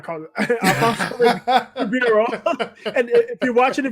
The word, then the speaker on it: Ribeiro: Ribeiro. That's how you pronounce it.